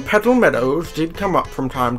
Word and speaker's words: Petal Meadows: Meadows huh petal medows I'm pretty sure every time I've said that I've pronounced it as Metals cuz Meadows like such a difficult World petal medals petal Meadows petal Meadows petal met